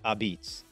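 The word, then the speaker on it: apizza: without pointing out that pizza here is pronounced abits now let's get to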